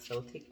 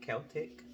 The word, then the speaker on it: Celtic: uh pile okay um so Celtic I believe I'm saying it right not Celtic Celtic uh you drew this